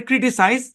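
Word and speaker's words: criticise: হ্যাঁ, উচ্চারণ কিন্তু সেম, এখানে কিন্তু এসটা জেড এর মতো সাউন্ড দেবে, কারণ ওই যে এস এর দুই পাশে ভাওয়াল থাকলে সাধারণত এস জেড এর সাউন্ড দেয়, ক্রিটিসাইজ।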